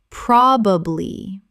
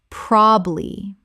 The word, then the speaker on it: probably: Common mispronunciation. Probably. Correct pronunciation. Probably. 2 syllables in natural speech. The middle syllable is almost always dropped.